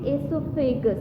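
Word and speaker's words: oesophagus: O is silent and you will be pronouncing it esophagus.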